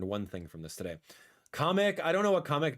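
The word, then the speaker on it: Kamek: So apparently my entire life I've been calling kamic the wrong name. It's pronounced comic uh with like a like a like a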